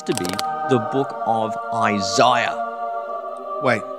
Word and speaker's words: Isaiah: be the book of isaiah wait isaiah isn't it isaiah yes our american cousins sadly mispronounce a key book of the bible the book of isaiah not the book of